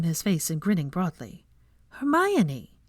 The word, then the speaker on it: Hermione: grip when he tried to pull away Hermione say it her my oh she grinned ninny